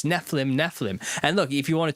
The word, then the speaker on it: Nephilim: Technically, brother, the eem in Nephilim is pronounced eem because it's plural.